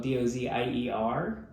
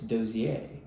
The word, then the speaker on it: Dozier: like my last name it's spelled d-o-z-i-e-r but it's not it's not pronounced Dozier it's dosier and so this would